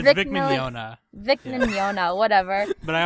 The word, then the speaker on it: Mignogna: It's Vic Mignogna.